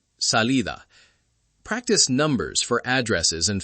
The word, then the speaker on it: salida: Finally, the soft D between vowels. Cuidado, ciudad, salida. It sounds like a very soft th in some accents. Cuidado, ciudad, salida.